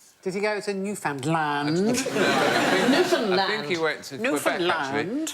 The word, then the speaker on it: Newfoundland: Newland hey hey enough violence on this show Newland is the correct pronunciation and in 1876 a man was killed